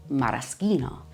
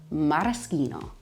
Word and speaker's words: maraschino: Maraschino is a really classic cherry that we use in puddings, desserts, drinks, but it's actually pronounced maraschino. Again, the CH makes the K sound, maraschino.